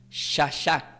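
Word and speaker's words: שחה: Y del hebreo se pronuncia como shashak, con acento en la A.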